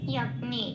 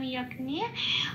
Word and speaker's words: যজ্ঞে: 8 নম্বরে তালিকাভুক্ত করে দেওয়া আছে হর্ষয় প্লাস অন্তস্থ জয়ের উচ্চারণ ইয়, ইয়াগ্নি এরম বলতে হবে। গিয়টা এই গ আর ইয়া ঘাসা উচ্চারণ হয়, সেই জন্য একটু ভেঙে বললাম ইয়াগ্নি।